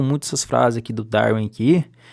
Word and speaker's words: Darwin: Então iniciando aqui, já começando aqui pela pronúncia que eu vejo muita gente errando, é Darwin, não é Darwin, não é com V, vem do inglês.